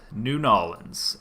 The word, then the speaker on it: New Orleans: New Nolans, as it's never actually pronounced.